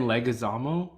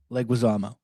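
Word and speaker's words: Leguizamo: voice um trying to so so say it again legazamo leguizama leg was ammo okay so I'm adding way too many syllables okay I got you okay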